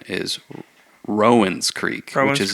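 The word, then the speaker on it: Rowan Creek: actually heard that The Distillery says the correct pronunciation is Rowen Creek which is not like the county really here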